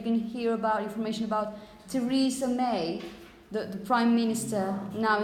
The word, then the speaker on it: Teresa: now it's Antony Antony Esther in this case Teresa Teresa Teresa Teresa have you if you listen to the radio and you can hear about information about Teresa may the Prime Minister now in the UK